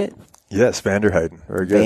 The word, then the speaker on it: Vanderheyden: Yes, Vanderheyden. Very good. Vanderheyden.